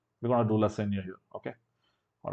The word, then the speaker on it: Lassaigne: Lassaigne. We're going to do Lassaigne here.